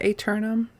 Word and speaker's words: Aeternum: Yeah, Aeternum. Aeternum. Yeah, Aeternum. I think that's correct. HMS Aeternum. Ooh. Phonetically sounds almost like eternal.